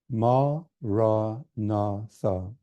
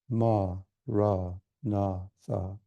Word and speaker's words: Maranatha: And if you choose this word, say it as 4 equal syllables. Ma, ra, na, tha. Form the word clearly in your mind, in your heart, as you say it.